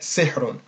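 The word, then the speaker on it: سِحْر: is a sukun, or on the ha is a sukun. So we would pronounce that sihrun.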